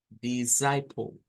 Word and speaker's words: disciple: Entonces es descend, disciple. Entonces hay que tener cuidado con esas dos pronunciaciones, de hacerlas como I corta, di, I corta.